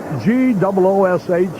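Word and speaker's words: Gwozdz: have this name spelled G-O-O-S-H, the phonetic spelling, rather than all the S's, W's, and Z's? Gives him some character, though. G-W-O-S-D-Z is the spelling, but it's pronounced Goosh.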